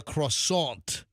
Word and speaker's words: croissant: One of the athletes said that even the croissant Or how do you say it like the French say it? Croissant. Croissant. Yeah, you like Croissant. swallow your R.